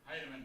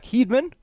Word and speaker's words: Heidemann: Up next, your catcher, number 9, Jack Heidemann. Brings up Jack Heidemann. Or as my Siri tries to tell me every time I tell her to call Jack Heedman. Not loving that pronunciation.